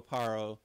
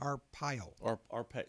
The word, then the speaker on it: Arpaio: Arpaio, is that how you say his name? Arpaio.